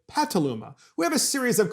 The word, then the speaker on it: Petaluma: stations in petaluma california it's actually spelled petaluma but they pronounce it pataluma we have a series